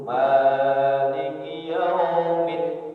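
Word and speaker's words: مالك يوم الدين: Terus selanjutnya 8 itu Maliki Yaumiddin. Itu ada dal tasdid.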